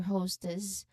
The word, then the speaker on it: hostess: So, pronunciation wise, host or hostess, of course, remember to emphasize on the first part, host, and then s ending should be soft, not a hard s sound.